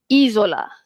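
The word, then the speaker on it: isola: Next ada izola. Okey, izola sebab s di antara dua vokal I dan juga O kan. So, izola.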